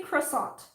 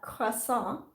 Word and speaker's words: croissant: like the what uh the t is silent and french but in english canada